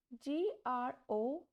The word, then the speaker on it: grosse: So, when E is at the end, it has no pronunciation. So, the word BONNE is pronounced as bon, not bonnet, grand, gross, petty.